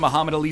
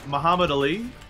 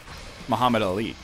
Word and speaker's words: Muhammad Ali: The cadence, like the emphasis is on the li, not the ah. You're going right through the syllables as if there's never a break between them.